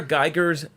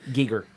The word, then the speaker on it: Giger: H.R. Geiger's alien design. Giger. Geiger? Is it really Giger?